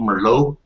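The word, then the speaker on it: Merlot: name, but it's called Merllo. Um, what else do I like? Is that one of them damn French words where you don't pronounce the T at the end?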